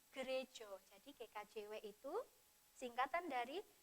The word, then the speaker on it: gereja: Kristen Jawi Wetan nah memang tulisannya gereja ya tapi kita membacanya krejo jadi gkjw itu singkatan